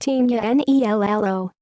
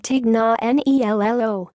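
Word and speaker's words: Tignanello: had a sip of wine called Dignan ello pronounced tinea and i ll oh but let's be real in the States most people said Tecna and I ll OH or just plain old tick the it's lolly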